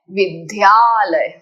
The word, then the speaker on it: विद्यालयः: 99% लोग करते हैं विद्यालय। विद्यालय डू यू सी the sound of धनुष का ध नहीं। हमें उस तरह से उच्चारण नहीं करना है। Your the should be soft अल्पप्राण।